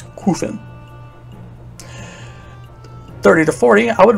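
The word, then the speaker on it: Qufim: 20 to 30 crew from island it is pronounced kuffin by the way i don't care what you say it's qufen 30 to 40 i would recommend gareth citadel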